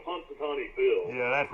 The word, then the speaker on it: Punxsutawney: He's called Punxsutawney Phil. Yeah, that's right. Punxsutawney Phil.